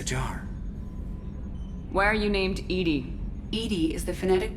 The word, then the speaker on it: EDI: airlock is a jar why are you named Ed Ed is the phonetic pronunciation of eedi that is an acronym for